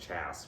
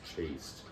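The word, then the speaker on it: chaste: read that word I was like that's probably pronounced chass but now that there's a e at the end of it it's chased all right I'll be so chased in my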